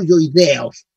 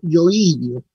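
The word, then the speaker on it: hioideos: aquí, ¿no es cierto?, que corresponden a músculos yoidios, no yoideos, sino yoidios, tienen como acento en la I, todo esto, esternocleidomastoideo, esternocleidoyoideo, ¿ya?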